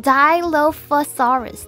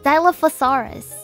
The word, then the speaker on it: Dilophosaurus: Dilophosaurus means two crested lizard um it is pronounced Dilophosaurus Dilophosaurus so I was wrong Dilophosaurus it is part